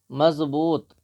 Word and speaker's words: مضبوط: ہجے پڑھیں گے۔ مضبوط، اردو میں زواد کی آواز زوا یا زے کی طرح ہوتی ہے اور حرفوں کو مخرج سے بھی ادا کرنے کی ضرورت نہیں ہوتی، درمیانی انداز میں اردو کے تلفظ ادا ہوتے ہیں۔ مضبوط، میم زواد زبر